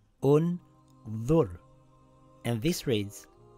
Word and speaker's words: ٱنظُرْ: The third letter has a dhamma. So we place a dhamma on Hamzatul Wasl. This reads Un-Dhur.